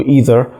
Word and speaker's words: either: ما بين either و either الاثنين في نفس الوقت بدون اي مشكلة تماما. في ناس بتقدر تقول ان هو الناس اللي هي من south بتقول either، والناس اللي هي من north بتقول either، فبالتالي مفيش فرق خالص